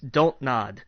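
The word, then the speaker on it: Dontnod: you pronounce that entertainment don't nod cuz it's a palindrome well okay it's like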